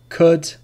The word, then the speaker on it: could: Calm, half, talk, walk, would, should, could, calf, salmon. So these are examples when the L is not pronounced. But remember, the rule is not pronounced after the vowels A, O, or U.